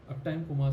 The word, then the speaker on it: Uptime Kuma: Let me check out what Uptime Kuma says about groups, because I need to understand groups to be able to understand what it really does.